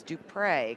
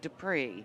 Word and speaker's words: Dupre: And I am joined by Dupre, correct? That's correct. I always want to say Dupree.